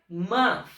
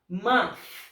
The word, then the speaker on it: month: Essa palavrinha em inglês aqui, ó, mês, se pronuncia month. Esse TH em inglês, ele tem esse soprozinho no final. Month.